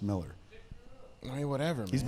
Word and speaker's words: Millar: I want to give him the Millar Because it sounds the like AR. UK. But because it has an AR, but it's pronounced Miller.